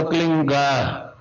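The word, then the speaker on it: क्लीं: ही मात्रा और बिंदी, उसका उच्चारण होगा क्लीन गा, गा की ध्वनि निकलेगी पीछे।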